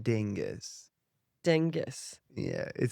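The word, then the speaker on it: Dyngus: Dingus.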